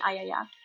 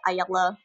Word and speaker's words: Ayalla: room what is that a double L is yeah so she tells me I owe ya which is how I teach people to say my name because a lot of people can't pronounce it you think it's like a yellow or yellow or whatever I don't know what